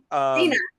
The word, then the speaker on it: Cina: Senya, as you are known to your friends. Cina.